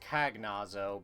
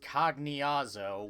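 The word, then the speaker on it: Cagnazzo: with pronunciations because if because I used to pronounce cognyaza cognyazo as kagnazo but then I learned later it's supposed to be pronounced cognazo which god damn it final fantasy you and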